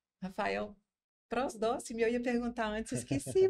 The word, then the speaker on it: Prosdocimi: E também apresentar o Rafael Prosdóximo, eu ia perguntar antes, esqueci, pronunciei certo?